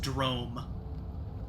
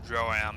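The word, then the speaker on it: Droaam: Well, I think in like an interview I heard with Keith Baker, I think he said that he pronounces it Drome. Drome. Yeah. That's kind of how in his head it sounds.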